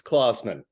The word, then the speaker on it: Klausman: It's like Santa Claus. It's Klausman.